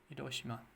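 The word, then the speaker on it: Hiroshima: could have tripled the death to hirosima hirosima hirosima there we go I start to use the right pronunciation hosim a missile not an arcraft that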